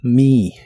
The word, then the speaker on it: me: Y usaremos la palabra mi, es la terminación me en ideas como recordar me o ayudarme. La e se pronuncia como una i larga o doble.